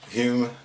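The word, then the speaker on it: Hulme: English person to say properly because I can't pronounce it it's huming 'land Hume I'm Manchester in England and this actually is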